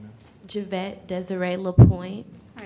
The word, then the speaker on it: LaPointe: Can you please put your name on the record and spell it? Javette Desiree LaPointe, JIVETTEDESIREELAPOINTE.